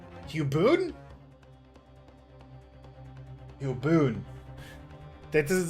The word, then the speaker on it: Hugh Bone: Bone rhymes with soon. Hubon. Huboon.